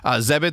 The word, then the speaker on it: Zebit: Zebit, that rhymes with debit, believes that everyone deserves access to lifelong interest-free credit.